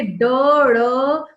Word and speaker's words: ड़: अगर ड के नीचे बिंदु लग गया तो इसका उच्चारण क्या हो जाता है? ड़।